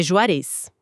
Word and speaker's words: Juarez: nome certo da fonte, a pronúncia do sobrenome dele tem a ênfase no final mesmo. É Juarez, com acento tônico no e.